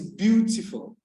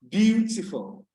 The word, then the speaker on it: beautiful: heightened, that this syllable that is emphasized, the syllable that is stressed. So it is teacher, teacher, teacher. The second one is beautiful, beautiful, beautiful.